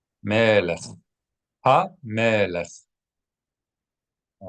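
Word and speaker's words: מלך: All right, make sure that when you read the chaf at the end of a word, you always pronounce it how? Not hard like a K, but more guttural. Melech. Soft.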